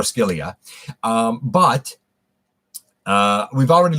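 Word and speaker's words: Scylla: uh cilia or skillia some people pronounce it cilia the modern day pronunciation based on greek i think it's greek ischilia so i'm going to call her scalia um but uh we've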